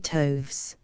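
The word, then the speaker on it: toves: how to pronounce slyy toes the ey in slyy is long as in Wrath and Toes is pronounced so as to rhyme with Groves again the first o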